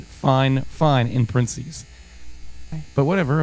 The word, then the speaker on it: Fifine: me they they said this is how you pronounce it fine fine in princes but whatever